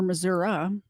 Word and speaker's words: Missouri: former Middle School principal in Missouri or Missoura if you're from Missouri I think that's how you pronounce it will spend the rest